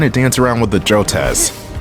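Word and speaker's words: Jotaz: dance around with the joez or Joe Taz it's it's Tas like the Tasmanian deel not t say I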